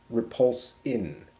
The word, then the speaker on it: Repulsine: so many times and I always thought it was just spelled like repulsing with a g at the end but it's repulse in r e p u l s i n e repulsing engine um boy